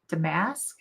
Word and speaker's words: damask: Damask is accented on the first syllable, not the second.